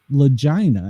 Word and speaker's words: Lagina: So the book is called Filthy, and the author of the book is called Lagina, and I am pronouncing it correctly there.